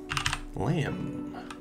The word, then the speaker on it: lamb: Lamb. That silent B at the end.